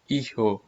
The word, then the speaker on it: hijo: the previous chapter that H is always silent in Spanish language so we are pronouncing this word as a ho hijo the word good means